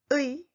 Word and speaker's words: 의: 의 is pronounced in three patterns as 의, 이, and 에. In fact, you can say all letter 의 with one sound 의. In standard Korean, the sound 의 is defined as the basic pronunciation, and sound 이 and 에 are just allowed.